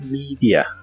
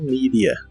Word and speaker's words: media: La O de social se pronuncia como OU y la E de media se pronuncia como I, on social media, on social media.